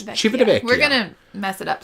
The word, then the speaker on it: Civitavecchia: Because I used to say Civitavecchia, and that is not right. It's Civitavecchia.